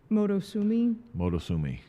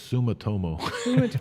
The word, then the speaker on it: Sumitomo: Motosumi, I believe, Motosumo. Yeah, so they sold back in 2015 to Motosumo. So for 9 years. Okay, listen, it's Sumitomo.